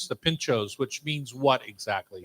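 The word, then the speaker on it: pintxo: a bar in the rioa region and pincho is spelled p i n txo pincho pincho it doesn't in here we wouldn't necessarily pronounce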